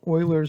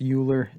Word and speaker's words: Euler: and it's just called euler's method i know you think this is pronounced euler it's actually pronounced euler he's swiss that's how they say it in that euler's method